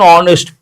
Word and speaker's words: honest: She is an honest person. A lot of people say a honest but h is silent.